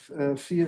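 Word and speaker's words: vier: uh A4 you had a famous group the FIA group which FIA is four in German which is spelled with a V.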